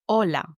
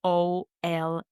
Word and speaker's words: hola: example, the word hola, which means hello, is pronounced like OLA, the pronunciation. Hola. The H in the beginning is silent at the moment you pronounce the word.